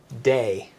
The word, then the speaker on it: de: one uh you know that would be day it's spelled D E day but again this is